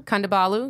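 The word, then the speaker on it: Kondabolu: Kandabalu.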